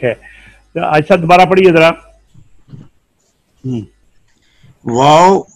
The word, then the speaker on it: واو: Wow pronounced as wow, pronounces wow by making lips round.